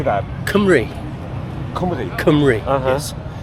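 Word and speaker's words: Cymru: Kumri. Kumi. Kumri. Yes. So the U is an E.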